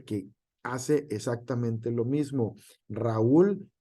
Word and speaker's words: Raúl: Raúl no se puede pronunciar por sílabas toda junta, Raúl, sino Raúl. ¿Por qué? Porque el acento estamos acostumbrados nosotros, de acuerdo al español, en ul. En esa parte fuerte es la U, ¿vale?